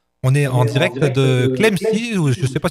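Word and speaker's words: Clamecy: Oui, c'est bien le nom de cette commune et il se prononce effectivement comme cela.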